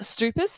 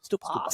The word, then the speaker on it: Stoupas: But is it Stoupas? That's the Yeah, Stoupas, yeah. the Stoupas Greek or pronunciation. Stoupas. Stoupas. Yeah, it depends how Greek you are, where you're born. If you're born there, then Stoupas. Yeah.